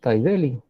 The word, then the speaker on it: Taideli: El nombre está bien pronunciado, Taideli.